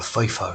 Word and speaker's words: Pfeiffer: p read michelle michelle pfeiffer eat of course f f is a triple six right but here you didn't pronounce this p sweetie yeah let's see just